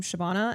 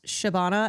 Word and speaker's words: Shabana: you can't spell or you can't pronounce Shabbana. S H A B A N A. Like that's Shabana.